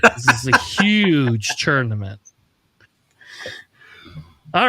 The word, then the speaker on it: UKGE: Huge. Yeah, just ignore the K and you're good. Huge. You sound like Okay, you sound like Donald Trump now. That's who you sound like. This is a huge tournament.